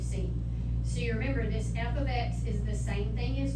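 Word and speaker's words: f(x): X we read this f of x and I expect you to know that that is how you say that so don't say FX you would say F ofx everybody okay there so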